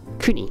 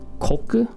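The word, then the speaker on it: 国: take a look at which by itself is usually just pronounced kuni which means just means country right if you just if you use this kanji and say kuni you're saying country when does it turn into koku typically when it's attached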